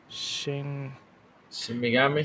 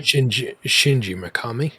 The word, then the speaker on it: Shinji Mikami: So, damn, what's I always get his name wrong. Tango X lead developer Shin Shin Megami? Shinji Mikami.